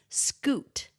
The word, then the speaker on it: scute: But the word is scoot and it's spelled s c u t e. Scoot. Yeah, because it looks like cute.